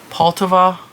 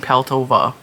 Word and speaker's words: Poltava: I say her last name wrong every time and I didn't realize I was saying it wrong. Poltava. Olga Poltava. I was saying Peltova.